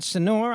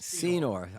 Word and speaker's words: Senor: please do Dan yeah Dan sonor I believe it's pronounced Senor I by the way